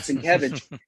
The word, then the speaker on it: Sienkiewicz: podcasters and YouTubers need to learn how to pronounce his last name. But Sienkiewicz, He got a hospital mention at least.